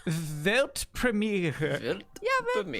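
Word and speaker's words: Weltpremiere: World premiere in German it's actually vet Premiere I think I could do that yeah do it velt Premiere yeah but me it's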